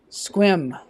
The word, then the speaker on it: Sequim: Squim. So squim, that's how you spell it. It looks like sequim.